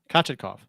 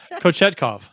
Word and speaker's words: Kochetkov: Kachetkov. How do you say it? I'm gonna get Kurt a Peter Sidorkowitz jersey for Christmas. Kochetkov.